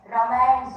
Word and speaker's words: Ramayana: Meenakshi Faithful in her essay Ram as a folk hero in the Ramayans, Ramaims, Ramayans of Himachal Pradesh. This is how we locally pronounce Ramayana here.